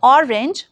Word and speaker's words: orange: Coming on to the pronunciation of orange. It involves a clear o sound and a soft ra sound.